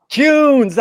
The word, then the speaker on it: Kuhns: That rhymes with prunes. Is that right, Bill? Kuhns. Kuhns.